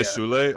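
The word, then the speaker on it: Soulé: I'm gonna say Sule only because he has the accent aigu. That's French.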